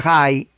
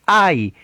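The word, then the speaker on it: Hai: O sea que el rey de Jai, bueno, digo Jai porque la H en inglés es J, por eso que lo pronuncio Yanjai, pero la H en español es muda, ustedes le van a decir Ai, pero déjenme pronunciarla en inglés, Jai.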